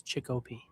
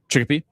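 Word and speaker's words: Chicopee: Mispronounced it. It's Chickpe. Chickpea.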